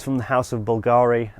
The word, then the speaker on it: Bulgari: vol galleries of the Bulgaria's I keep getting confused between those two I was recently corrected that it is Bulgari they just spell it with a Latin you which looks like a B but yeah this would